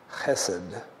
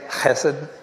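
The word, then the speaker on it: חֶסֶד: It's spelled H-E-S-E-D, and it's pronounced chesed. So you kind of, if you ever learned a language where you roll your R's, it's even more so than that. It's a hard H instead of a soft H.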